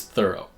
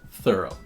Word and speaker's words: thorough: similar to though is thorough but there are two important differences here most obviously you have this o r here and that comes through as it's not pronounced or but is reduced thorough but the other important